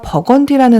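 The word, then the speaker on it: Burgundy: 레드 다크톤 브르고뉴 컬러입니다 부르고뉴가 버건 디라 사실 아셨나요 브류 고유의 영어식 발음이 버건디 있니다 왠지 버건디 부르고뉴 완전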